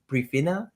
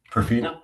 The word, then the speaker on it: Profina: He's the co-founder of Priina. Did I say it right? Profina. Absolutely. Profina, I got to work on that.